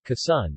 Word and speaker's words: Quezon: Quezon, Tagalog pronunciation, Quezon, is a province of the Philippines in the Calabarzon region of Luzon Island.